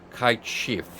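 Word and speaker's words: Cait Sith: Yes, I know, it's supposed to be pronounced as Kite Shift or something of the sort, but listen, I can't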